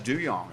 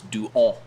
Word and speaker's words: Duhon: But if you go to France, I believe it's Doo Hon. Duhon. Right. Duhon. Yeah, because H is not Y in real French. H is not pronounced.